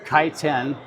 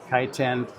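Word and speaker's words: Kaiten: the book is called kiten that is the correct way to pronounce it in English kiten the meaning of the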